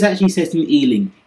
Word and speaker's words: Ealing: But it's actually set in Ealing. Ealing rhymes with dealing.